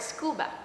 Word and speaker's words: scuba: underwater breathing apparatus but we pronounce it like a word really a word scuba that is an example